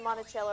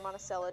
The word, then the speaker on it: Monticello: And we went up to Monticello or Monticello, depends on how you pronounce it.